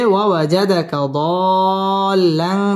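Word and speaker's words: وَوَجَدَكَ ضَالًّا: فهدا ووجدك ضالا فهدا ওয়াও ঠোঁট গোল করে উচ্চারণ করতে হবে ওয়াজাদাকা দাল্লান চার আলিফ টান দিয়ে পড়তে হবে লাং ইকফা গুন্নাহ করে পড়তে হবে ফাহাদা এক আলিফ টান দিয়ে ওয়াকফ করতে হবে ওয়াজাদাকা দাল্লান ফাহাদা ووجدك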